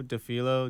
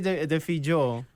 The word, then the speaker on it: Defillo: No, it's just it's like Defillo, and the L in Spanish is not the same sound.